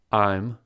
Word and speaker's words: I'm: contractions in their sounds I'm rhymes with dime your sounds the same